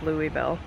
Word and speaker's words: Louisville: here at a park in Louisville that's how the locals pronounce Louisville what's the name of this park Cherokee Park Cherokee Park and interestingly was designed by mr.